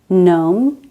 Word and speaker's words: gnome: This is silent when a word begins with a GN. Gnome, gnat, gnaw.